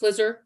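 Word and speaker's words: FLISR: who came up with flizzer how are we pronouncing the f-l-i-s-r yeah flizzard that's correct flizzer yeah you want to know what it means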